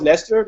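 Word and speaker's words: Leicester: EPL I asked him did you know how to pronounce Lester before before last season like leer leester coach what's that's funny huh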